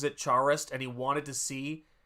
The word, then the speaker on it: Charest: It is French, and it should be pronounced pronounced Charest.